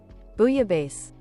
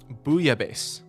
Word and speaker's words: bouillabaisse: Is a traditional provincial, I feel like I'm pronouncing that wrong, fish soup originating in the port city of Marseille. Bouillabaisse. Bouillabaisse.